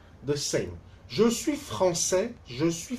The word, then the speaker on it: français: Je suis français, je suis française. I am French. 我是法国人. Français, it's a man. Française, it's a woman. Here also you see, français for a man, we don't pronounce the final S.